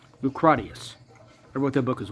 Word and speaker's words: Lucretius: I wrote other kinds of books, like, as you pronounce it, Lucretius. It's actually Lucratius.